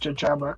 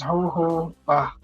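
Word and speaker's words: jojoba: So, hoba, it's not pronounced jajjaba because in parenthesis it says ho hobba uh residue since it it does not grow in the immediate area.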